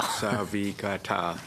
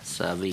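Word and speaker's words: Savikataaq: If you break it down to 4 syllables, it's not that hard. Savikata. Savikata.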